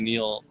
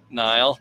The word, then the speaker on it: Niall: No, I had him and I was in and I said his name wrong and he was like, you're kind of a dick. And I'm like, sorry, Niall.